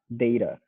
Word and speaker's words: data: say it just like data good great data so the a is a long a sound it sounds like the letter a data right data but